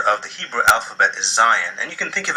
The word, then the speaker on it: zayin: The letter Zayin is pronounced like Z in zebra.